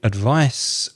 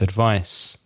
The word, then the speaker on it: advice: difference in pronunciation with advice with a C it's a without vibration it's without vibration in the throat so it's advice advice the verb advise